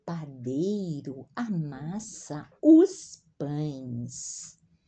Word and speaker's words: pães: O padeiro amassa os pães. O padeiro amassa os pães. A AES é a pronúncia AIS. Pães.